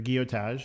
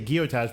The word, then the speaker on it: Gillotage: It's I say guotage, but it's G I L L O T A G E. Gillotage.